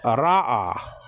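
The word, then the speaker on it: רָאָה: This is Ra'a. Okay, that's Ra'a. Spelled out, and that means to see. It's spelled out Resh with the kamet, so that's Ra. And then you have the Aleph with the kamet, and that's Ah.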